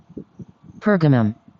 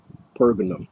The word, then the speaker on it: Pergamum: Pergamum. Pergamum. That's the correct way how to pronounce that word. All right, Pergamum.